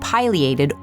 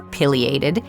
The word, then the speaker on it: pileated: Pronounced piliated or piated.